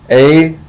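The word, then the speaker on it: Ἠσαΐας: the case of Esaias, the diaeresis indicates that the alpha iota forms two separate sounds, and so it gives you the syllabification of that, Esaias. And it's kind of like we pronounce the word naive in English.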